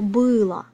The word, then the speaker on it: было: So the difference is only in the stress mark. So pay attention here. One more time: она былА, оно бЫло.